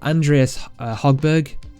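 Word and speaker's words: Andreas Högberg: But right here, Shaquille Mitchell, Andreas Hogberg, that's the Finnish pronunciation there.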